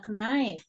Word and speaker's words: knife: Redaksi penulisan untuk pisau ya knife. Oke, kayaknya nggak perlu dibaca, langsung aja knife ya. Jadi kita bacanya knife.